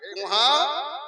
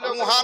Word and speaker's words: কাহা: কেবল আপনি বলেছিলেন কুহা কিন্তু আসলে কুহা নয় এর আসল উচ্চারণ হলো কাহা।